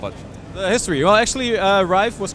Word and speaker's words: Rive: How do you pronounce the name of this game? Is it Rive, Live and Survive, what? It's Rive. Rive, Yeah.